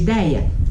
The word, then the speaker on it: ideia: Por isso que a palavra ideia perdeu acento. Por quê? Vamos dividir ideia? Ideia. Ideia. São 3 sílabas aqui. Qual é a sílaba tônica? Dei. Então ela é uma paroxítona.